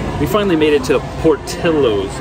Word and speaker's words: Portillo's: finally made it to portillo's not poor dillos as he was saying i did say it i was saying it wrong i admit it uh